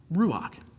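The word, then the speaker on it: רוח: Spirit of God now spirit in the Hebrew is pronounced Ruach and in addition to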